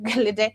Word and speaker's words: Gelede: I think I should pronounce it the Nigerian way. Gelede.